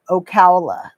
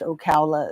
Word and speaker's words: Ocala: Ocala. Thank you. I would never have guessed Ocala is how you say that.